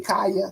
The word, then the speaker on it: Kaya: Hey, Kaya, like Kaya. It's pronounced like that.